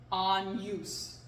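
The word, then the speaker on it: agnus: like GN it is then pronounced Nia like on use day that's spelled a-g-n-u-s on use on news so in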